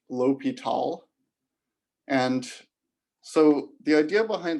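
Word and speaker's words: L'Hôpital: is l'hopital's rule so it's spelled the hospital's rule but this is pronounced l'hopital and so the idea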